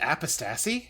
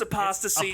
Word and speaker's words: apostasy: Can I just Is it pronounced apistassie? Have I been saying it wrong? I'm pretty sure it's apostasy.